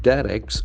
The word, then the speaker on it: direct: It has got two accepted pronunciation. direct, Direct and direct, both are accepted.